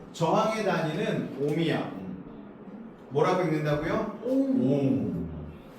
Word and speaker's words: 옴: 그래서 얘를 뭐라고 읽냐면 옴이라고 읽어요. 맞아. 저항의 단위는 옴이야. 뭐라고 읽는다고요? 옴.